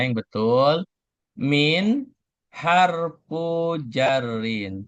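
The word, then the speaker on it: حرف جر: Perhatikan cara baca ee walaupun kita ngenalnya adalah huruf jer, tetapi itu kan udah menjadi istilah kayak bahasa Indonesia. Nah, dalam membaca bahasa Arab maka itu harus dikasih harakat ya.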